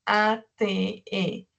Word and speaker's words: ate: Entonces, para hacer el pasado de it, son las mismas 3 letras, pero se escribe A-T-E y se pronuncia ate, ate.